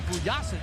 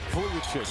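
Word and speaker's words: Vujačić: Get me back in when Vujasic comes back in. Vujicic. We love your pronunciation sometimes.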